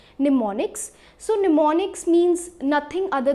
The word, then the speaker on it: mnemonics: the word mnemonics so the m is silent and this is pronounced as mnemonics so mnemonics means nothing